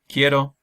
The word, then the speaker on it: quiero: Quiero means I want, so that's a hard K sound, quiero.